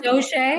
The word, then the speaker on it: Doshay: Yeah, it sounds Doshay. cool. Am I saying your last name You correctly? are. You're saying right, Doshay, yes.